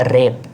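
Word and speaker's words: wrap: यहां पे इनसाइलेंट है। रेप।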